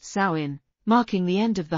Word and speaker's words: Samhain: celebrated the Festival of Samhain pronounced sain marking the end of